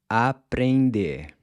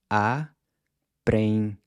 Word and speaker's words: aprender: So the first thing that might jump out at you is the pronunciation of the “E-N”, which sounds almost like it’s got a “g” attached to the end—“eng”.